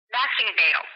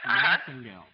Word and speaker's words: Massengale: Massengale. Am I pronouncing that correctly? Massengale. Massengale.